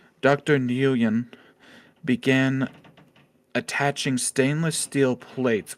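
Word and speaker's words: Nguyen: remember new yeah Nan nuan okay yeah uh it's Vietnamese oh okay silent G okay uh following the interview after gaining approval from security Chief uh redacted starts with an H Dr nean began attaching stainless steel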